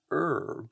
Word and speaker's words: herb: I find it odd that in North America we tend to call it an herb, but other botanical names are pronounced with the A: herbicide, herbaceous, and herbivore.